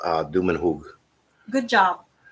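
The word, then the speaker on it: Dumanjug: uh cebu called uh dumenhug good job the way it's spelled it looks like douma jiggy and that's actually what i thought it was the first time i read it c-d-u-m-a-n-j-u-g to my home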